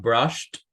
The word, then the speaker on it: brushed: So we have brushed, okay, no pronunciamos la E, missed, very good, pero se escucha un sonido bien fuerte, brushed, porque tenemos que hacerlo saber qué es pasado.